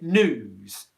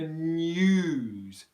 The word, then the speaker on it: news: really sound quite right what we want to do is add that yeah sound in there and say what time is the news news news and look